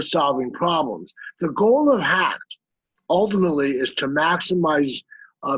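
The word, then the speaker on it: HAGT: but we call it hacked for short h-a-g-t that's pronounced hack and hacked is an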